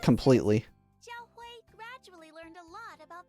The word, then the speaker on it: Zhaohui: Zhaohui? Okay, I have been saying it wrong. Zhaohui. Alright, I gotta remember to say it correctly. Zhaohui.